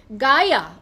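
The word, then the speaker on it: Gaia: Okay this is গায়া, মানে কি আজব, জি এ আই এ, how would you pronounce G এ আই এ, গায়া।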